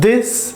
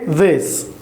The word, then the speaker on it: this: ठीक है, लेकिन जो साउंड है वो बिल्कुल दाल की तरह नहीं है, दिस नहीं है बल्कि दिस।